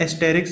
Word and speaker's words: asterisk: This symbol is not called actually star, it is called asterisk symbol. A-S-T-E-R-I-S-K. Note that this S is silent, so asterisk symbol.